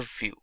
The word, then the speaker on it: Vue.js: complete web application solution view. GS is commonly referred to as View and pronounced as vuejs or view is rightly so now why